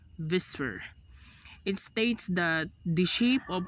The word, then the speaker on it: VSEPR: electron pair repulsion or Vsepr pronounced as whisper states that the shape